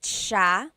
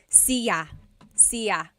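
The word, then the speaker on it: siya: means you are nice and and then ma sha he or she ma sha a couple things I want to point out about sha first is the pronunciation it looks like it should be pronounced CAA but it's actually pronounced Sha Sha so the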